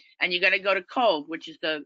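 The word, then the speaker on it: Cobh: you're gonna go to cove which is the it's it's spelt c-o-b-h you pronounce it coal which is what i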